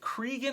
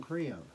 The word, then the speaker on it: Crean: Is it Cregan or Crehan? Do you remember? John Crean. Crean, okay.